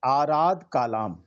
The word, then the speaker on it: आराध कालाम: पवित्र पावन ग्रंथ है, उसमें लिखा हुआ है आराध कालाम, और उसकी स्पेलिंग है ARADA और कालाम की है KALAM। तो आप सब भी उसको चेक कर सकते हैं। तो और हिंदी में इसी को आलार लिखा हुआ है, आलार आलाम। ठीक है।